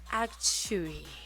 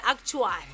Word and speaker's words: actuary: Prosper from ASZ, and he's an actuary. I know you're wondering why I said it like that. It's because we usually say actuary, but apparently that's not how you pronounce it, Actuary.